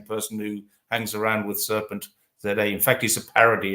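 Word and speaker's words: Serpentza: I say Serpent ZA because I'm English. Other people say Serpenza, Serpent ZA.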